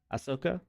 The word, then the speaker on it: Ahsoka: ashka yet how do you say her name Ahsoka Ahsoka Ahsoka I haven't watched that yet um